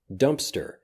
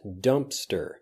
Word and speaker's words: dumpster: post it next dumpster dumpster there is a P in this but it basically disappears dumpster dumpster dumpster often when